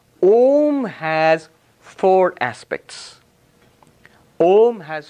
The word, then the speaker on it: Om: if you combine them together you get not um a little knowledge is a dangerous thing before you knew this you are pronouncing it correctly you're saying ohm moment you say aha it is our uma